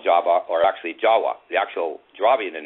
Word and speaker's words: Jawa: And the other name is called Java, or actually Jawa. The actual Dravidian name is spelled Java, but the V is pronounced as a W. And even today, they spell it Jawa and call it Jawa over in Bahasa, Indonesia.